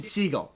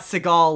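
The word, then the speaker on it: Segel: It's Jason Seagull as in the animal seagull. Um Jason Seagull. Not Seagal like Steven Seagal. It's You've got me doing it now. It's Jason Seagull.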